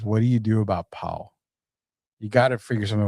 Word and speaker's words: Paolo: Paolo.